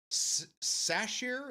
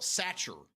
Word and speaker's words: Sacher: National Sacher. Is it sache? It's spelled satcher, but I I know it's not.